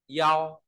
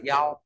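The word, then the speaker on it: 一: l bải ta lưu ý số 1 thì đọc là Yo nhá số 1 đọc là Yo rồi b vì nghĩa là ở đâu đó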